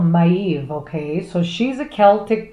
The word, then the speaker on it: Maeve: So in the second row here, This one here, hard to pronounce. It's called, she's called Maeve, okay?